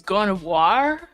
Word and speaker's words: Gardevoir: You see, you got to pronounce it right, Hurtbox. It's Gardevoir.